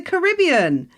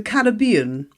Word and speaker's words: Caribbean: that I've got listeners in the Caribbean or as we British say the Caribbean I know I know